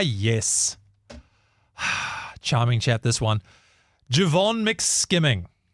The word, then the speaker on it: Jevon: Jevon McSkimming. Jevon, actually, I think it is Jevon is how you say his name.